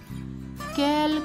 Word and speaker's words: quel: Pero los cuatro se pronuncian igual. ¿Quel, quel, quel, quel? Sí, los cuatro tienen la misma pronunciación.